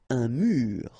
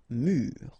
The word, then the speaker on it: mur: Un mur. And the adjective, mur. Okay, so un mur and mur.